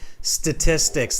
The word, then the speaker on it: statistics: The pronunciation of this word is tricky, even for some native speakers. So just repeat after me. Statistics. statistics, Statistics. statistics. Okay, it's tough, that one, right? Okay, let's break it down.